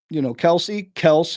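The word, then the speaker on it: Kelce: If the quarterback, Mahomes, and, Kels is the way they really pronounce it, but everyone calls it Kelsey, so that he just gave up and let it happen.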